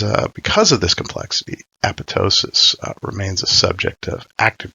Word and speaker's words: apoptosis: and its intended pronunciation they specified the greek use of the silent p with emphasis on the penultimate syllable the use of a